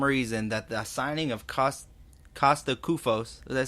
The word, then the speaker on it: Kosta Koufos: What do you say to those people that think that for some reason that the signing of Kosta Koufos, did I pronounce that right that time? No? Kosta Koufos.